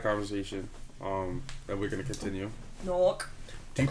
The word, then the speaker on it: Newark: Newark. Do you pronounce it Newark or do you say Newark?